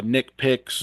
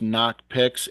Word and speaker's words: Nocpix: CP iix um uh get a lot of uh nickpic or uh variations of the name but it's it's knock piic nocp and and they are actually